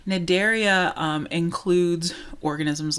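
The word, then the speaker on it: Cnidaria: from the filum called nidaria the C is silent here nidaria um includes organisms like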